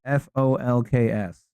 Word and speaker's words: folks: How do you pronounce the word F O L KS?